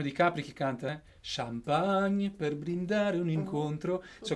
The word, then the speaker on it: champagne: Champagne. Champagne. Não é champanhe, é champagne. Né? Esse on, champagne. E a boca cai um pouquinho, assim, ela abre champagne.